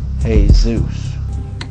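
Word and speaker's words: Jesús: aryan sanskrit and it the spelling of jesus is pronounced hey zeus to discover that the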